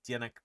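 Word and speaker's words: Zdeněk: Dianick Burian.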